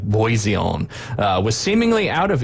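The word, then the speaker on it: Bisson: It's French, so it's probably like Boiseon uh was seemingly out of earshot at the back of the court at the time of the occurrence.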